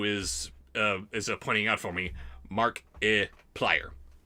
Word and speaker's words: Markiplier: Cheats the Pimp 2 is pointing out for me Markiplier. Markiplier. It's like multiplier, but with a mark instead of a mult. Thank you. That's very helpful. Markiplier.